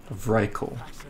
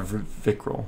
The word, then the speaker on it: Vrykul: Vrykul. Not Vikral. Vrykul.